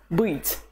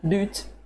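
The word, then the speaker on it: быть: its infinitive form it's beet let's say more times beet beet please pay attention to your pronunciation it's not boot neither beat the vowel is at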